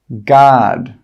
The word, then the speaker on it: guard: The letter U is often not pronounced when it's after a G and before a vowel. Some common examples are guard, guarantee, guide, guest, guess. In all of these words, we're not pronouncing the letter U. It's a silent letter.